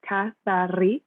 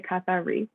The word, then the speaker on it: Kathari: That's pronounced Kathari. I will roll my R's. That's the Greek way to say it. Feel free to say it like that. Or you can just say Kathari, whatever works for you.